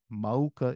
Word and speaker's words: maoka: but they flow together there's no okina therefore maoka is a pronunciation with the U being enunciated in the middle okay by cutting